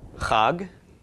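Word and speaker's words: חג: gut of the gimel altogether is pronounced cog and cog is a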